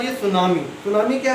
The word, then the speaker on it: tsunami: नहीं करते हैं तो साइलेंट रहता तो सुनामी बोलते हैं वक्त यह जैपनीज़ रोल है तो इसको सुनामी पढेंगे तो सुनामी में